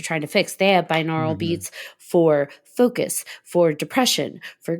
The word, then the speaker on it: binaural: b i n a u r a l binaural beats oh I got you binaural binaural yeah binaural beats oh like they do